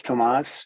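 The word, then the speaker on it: Tomasz: you say his name again yes it's it's Tomas it's spelled t-o-m-a-s-z as a Zulu tangas and the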